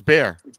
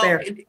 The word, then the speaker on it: Bexar: Now I know it's bear. It's just bear.